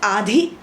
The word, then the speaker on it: आधी: ठीक है, अब आते हैं हम आधी और आदि। आदि आधा है ये, ध it should be clear, pronounce करना है आपको, क्लियर बोलिए।